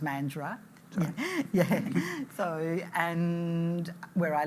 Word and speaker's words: Mandurah: It's actually pronounced Mandurah.